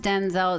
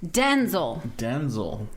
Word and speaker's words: Denzel: Denzel is named after his father, who's also named Denzel, but it's not pronounced Denzel, it's pronounced Denzel.